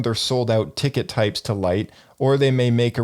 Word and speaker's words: Lyte: with a company called Lite. Lite is spelled Lyte.